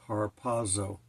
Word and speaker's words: harpazo: I always want to pronounce it with a T. It's harpazo. H A R P A Zo. I always like to put a T on it.